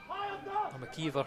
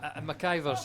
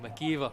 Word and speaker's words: McIver: they pass into mcivor i'm a keever i should say i've always wondered who you pronounced it and then i have justin mciver and i thought i'll go for that it's my machiver's just rolls off my tongue but it's every time i kick myself and say no my kiva my kiva that's from the man himself so i don't think he's got the pronunciation wrong that is how i